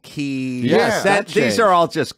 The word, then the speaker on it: Kyiv: This They did it with Kiev and Kyiv.